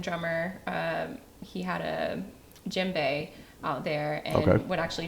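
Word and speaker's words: djembe: The Jimbe.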